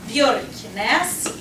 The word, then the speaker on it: Björknäs: So just some examples, and I picked a few that are a bit tricky to pronunciate as well. Oh wow, how about that? So first one, Björknäs.